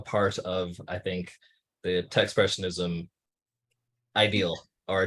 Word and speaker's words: Techspressionism: A lot of people add that extra syllable in there, like tech expression, but it's really just expressionism with a T, so Techspressionism.